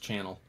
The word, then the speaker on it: Chanel: pronounced channel.